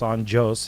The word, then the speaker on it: Anjos: So Rafael dos Anjos is from Brazil. We say the J. We enunciate the J.